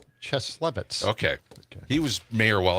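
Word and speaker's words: Cieslewicz: How do you say it? Cheslevitz.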